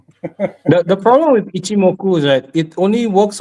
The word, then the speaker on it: Ichimoku: He was like, "Ichimoku Cloud." I don't know if I pronounce it right.